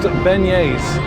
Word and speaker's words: beignet: and strawberry there oh there you go pronounced Beignets that was almost right and you also got